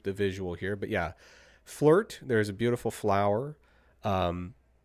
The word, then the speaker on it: FLRT: And so, Lauren, is this energy drink called Flirt? Is that how you would pronounce it? Is that fair? It's called Flirt with No I, and it So has flowers, and it looks very feminine.